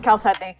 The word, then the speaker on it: chalcedony: I don't know how to pronounce that, so It's Chalcedony.